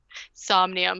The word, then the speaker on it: Somnium: Somnium, like insomnia.